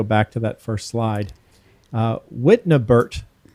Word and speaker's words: Wittnebert: Wittnebert is the last name, not Wittenberg or Witten. It's Wittnebert.